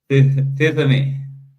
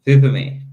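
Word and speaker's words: τίθημι: I give a point for the Greeks to do that instead of said thithemi.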